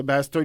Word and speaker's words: Basstard: Ça vient de, c'est Ouais. mon prénom. Puis Bastard. Bass.